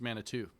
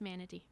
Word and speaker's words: manatee: It's pronounced Manitou. Is that right? It is not. It's manatee.